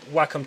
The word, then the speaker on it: Wacom: whack no it's pronounced Wacom because it's Japanese brand so that's how they would pronounce it so I'm using a